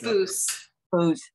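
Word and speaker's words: Boose: b o o s e b o it's boo who's b o o s e yes okay thanks thanks for the pronunciation correctly correction a a kind of a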